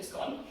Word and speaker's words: scone: Adrian Lehman states that in the north and Scotland, the scone rhymes with gone, so scone.